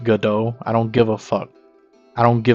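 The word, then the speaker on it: Godot: Also, go do is pronounced gdau. I don't give a I don't give a I call it good when I'm reading the book.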